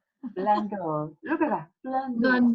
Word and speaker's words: Blundell: And today I have Lauren Bando again. Please correct me if your last name I pronounced correctly. Blundell. Blundell.